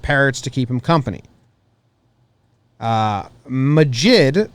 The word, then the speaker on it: Majid: Majid, pronounced Magic.